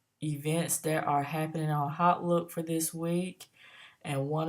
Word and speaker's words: Hautelook: look on our and some people have heard pronounced Holt look but I prefer to call that hot look because everything is hot so you come to